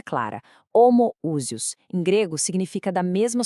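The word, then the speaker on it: ὁμοούσιος: E essa palavra foi homoousios, pronúncia clara, homoousios.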